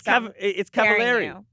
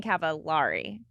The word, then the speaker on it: Cavallari: It's Cavallari. Yeah, Cavallari. It rhymes with very. You were saying Cavallari.